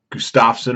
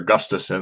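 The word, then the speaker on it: Gustafsson: the row the rematch Alexander Gustafson or Gustafson they pronounced at different ways Dana White says Gustafson everybody else says Gustafson so whatever you want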